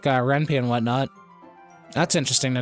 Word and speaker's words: Ren'Py: Okay, Ren'Py. That's how you pronounce it. Okay, Ren'Py.